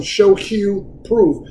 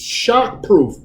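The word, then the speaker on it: shockproof: wrong okay and i was calling them show hugh proof right but actually it's shock proof shock proof 99 when we talked when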